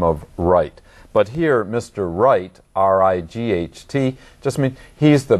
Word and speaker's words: Wright: Now, in fact, there is a family name, Wright, but it is spelled W-R-I-G-H-T.